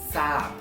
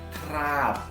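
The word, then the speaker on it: ทราบ: Kata kedua kita punya sap. Jadi thorahan rorea sara abomemai bukan dibaca trap, tapi dibacanya sap. Oke?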